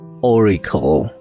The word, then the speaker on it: auricle: And on this side we have the auricle. Sound like O. Auricle. Auricle.